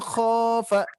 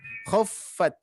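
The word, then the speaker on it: خفت: Terus huruf kho-nya kepanjangan, barusan kho ya. Wa man khafa. Hati-hati khaf ya. Tadi kepanjangan. Jadi kho-nya langsung saja. Khaffat. Nah, langsung masuk ke fa-nya.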